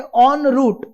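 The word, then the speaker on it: en route: Next word is again from French origin, इसको pronounce किया जाता है ऑन रूट। ऑन रूट, देखिए हम लिखते हैं ई पर उच्चार होता है ऑन।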